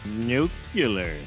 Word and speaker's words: Nucleous: You've seen Hot Shot, now let's have a look at Nucleous. Nuclear. It's pronounced nuclear.